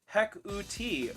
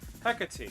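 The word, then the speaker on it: Hecate: that's cool um is a Greek name pronounced hekuti oh oh uh T cool hecka tea gotcha uh name of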